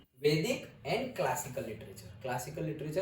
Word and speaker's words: वेद: वेदा means knowledge. देखो, वेद वेद, वेदा, ऐसे actually वेद ही pronounce करते हैं, लेकिन इंग्लिश में ये लगाते हैं इसलिए हम वेदा पढ़ते हैं।